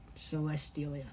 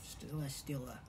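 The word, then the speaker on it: Celesteela: Celestelia. Celestelia. Not a ya. Celestela.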